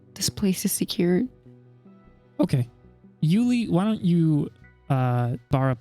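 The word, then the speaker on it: Euly: Also, just so everyone knows, Yuli is spelled E-U-L-Y. Oh, okay. Yuli. Yuli.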